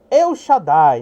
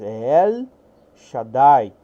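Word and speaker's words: אל שדי: chama el Por exemplo quando você diz eh numa forma bem eh da pronúncia portuguesa eu Shadai né eu Shadai é mas el shadai el quer dizer Deus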